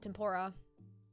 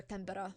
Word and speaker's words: tempera: chalk and uh and tempora or rather tempera would be would be the pronunciation okay but no valid